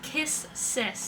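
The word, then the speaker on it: Kiss×sis: But they don't pronounce they don't pronounce the X, so that's kiss sis.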